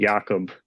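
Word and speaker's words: Jakub: Jakob. Jakob Lauko. I almost said Zaboral. Yeah. Oh my God. You guys are gonna lead the league. You're gonna lead the league in Jakobs.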